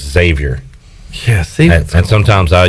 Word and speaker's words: Xavier: at the half bryce you don't pronounce the x in xavier and i uh struggle with that savior it's just xavier yeah see and sometimes